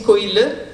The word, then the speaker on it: koilu: Par exemple, l'église, hein, le temple, koilu, à l'écrit, ça va faire koilu, mais quand on prononce, on dit koile.